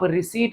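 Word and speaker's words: receipt: रिसीट का मतलब है पैसे का मिलना, रिसीट माने मिलना, हासिल होना, यहाँ पी साइलेंट है, आप रिसीट वर्ड बोलेंगे रिसीट। रिसीट का मतलब होता है पैसे का आना।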